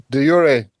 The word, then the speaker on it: de jure: De jure. De jure, and the jure applying sovereignty. But actually, in English, we don't say de jure. We just say the formal legal. You don't say de jure and de facto?